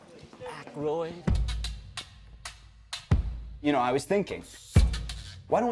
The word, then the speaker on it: Aykroyd: Chevy Chase, Gilda Radner, Dan Iyek, how the fuck do you pronounce this? Aykroyd.